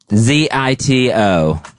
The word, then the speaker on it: Zito: Zito. Sounds like Devo.